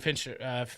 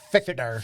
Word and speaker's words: Fichtner: I think D'Onofrio and Fincher. Am I saying it right? How do you say I always it? thought it was like Fichtner.